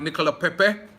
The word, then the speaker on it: Nicolas Pepe: Nicolas Pepe, or let me pronounce it right, Nicolas Pepe, as I was told over there in France yesterday, is a Gooner.